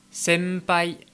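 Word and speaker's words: 先輩: Ensuite, quand le son m en japonais est suivi d'une consonne comme le p ou le b, eh bien la prononciation va être un petit peu altérée, ça va un peu plus ressembler à un m français.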